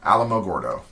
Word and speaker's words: Alamogordo: Think of Alamo. That's what I was. Yeah, Alamogordo.